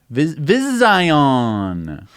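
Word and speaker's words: Vizzion: BWI dspace Vizio n-- vis ion vision vision spelled with ZZZ just why our physical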